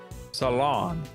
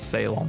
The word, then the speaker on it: Ceylon: Pronunciation. Salon. That's the British one. Salon. I would have said Ceylon like an idiot. Emphasis on the second syllable. Salon.